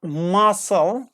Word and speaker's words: muscle: okay our next one muscle or muscles yes silent see here we have okay or